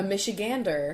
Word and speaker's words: Michigander: A Michigander.